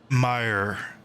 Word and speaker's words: Meyer: May. Yeah, I forgot. Hold on, wait. Let me look it up. I remember looking up the pronunciation for it, but I completely forgot. Okay, it's Meyer.